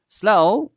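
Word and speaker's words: slough: Thorough মানে হচ্ছে পরিপূর্ণ, স্লাউ, এই স্লাউ এই ব্যাপারটা আপনাকে সবসময় একটু ইয়েতে রাখতে হবে, মানে উচ্চারণটাতে এখানে ঝামেলা আছে। অনেকে স্লাউ বলে ফেলে, আবার স্লফ বলে ফেলে অনেকে, কিন্তু এটা কিন্তু হবে না।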